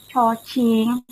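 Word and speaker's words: ฉ ฉิ่ง: Yang ketiga itu ada cocing. Nah, itu juga ada h-nya, jadi nggak c aja, dibacanya ada h-nya juga. Cocing, agak apa ya, kalau dipraktekkan itu ada hawa-hawa keluar gitu ya, cara ngomongnya tuh.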